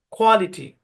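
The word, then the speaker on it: quality: clear হবে তো যাক এই প্রথম অংশের উচ্চারণ হচ্ছে খোঁয়া খোয়া মানে এই এ থেকে আ এরকম সাউন্ড আসবে খুঁ আ খোয়া আর এই অংশের উচ্চারণ লিটি তো সম্পূর্ণ শব্দের উচ্চারণ কোয়ালিটি কোয়ালিটি কোয়ালিটি কোয়ালিটি আমরা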